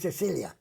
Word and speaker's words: Sicilia: And while I was there, I went to the Sicily, but in Italian it's called Sicilia.